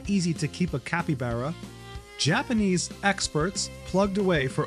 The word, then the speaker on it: capybara: When introducing them, they weirdly stuck with the Brazilian Portuguese pronunciation. Capybara, right? Capybara sounds so cute.